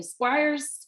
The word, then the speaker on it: Squires: um how do you say your last name Squires squ Squires squ I'm like I want to